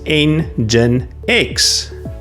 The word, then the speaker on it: NGINX: NGINX is NGINX. Think of it as an engine plus the letter X.